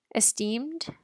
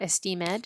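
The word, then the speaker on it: esteem'd: Esteemed, that apostrophe is there to tell us how to pronounce it, that it's not esteemed, it's esteemed. And that just means has a high value.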